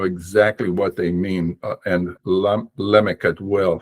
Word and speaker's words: Lamech: And Lamech as well. His name was not Lamech. That is the words in pause at the end of a verse. So they lengthened the vowel on the first syllable.